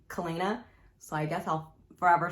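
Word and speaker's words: Celaena: I think her name is pronounced Selena. Ever since I read it the first time in 2018, when I read it in my head, I pronounced her name Kalena.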